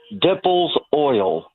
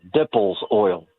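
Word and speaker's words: Dippel's oil: Uh, dimples oil. They It's from rendering cowbones. It's the worst smelling substance. Dimple. Wait, what did you call this now? Dimple. No, dipples oil.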